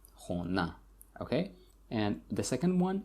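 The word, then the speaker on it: хона: And the red one, the red letter here, this is where the stress falls, khona, a. So the stress falls on a, khona, okay?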